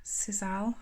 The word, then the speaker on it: sisal: trying to fit it's cursing cobb sizzle i'm sure that's how you pronounce it um it's called sizal no bother and that's